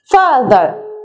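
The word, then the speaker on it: father: فذ فذ فذ ف بطلع لساني في التي اتش فاذ فاذر وما بنطق الار قوي ما بتكش عليها في الاخر فاذ اوكي اوكي اوكي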